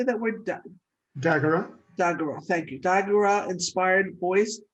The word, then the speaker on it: Dagara: Dagara, Dagara, thank you.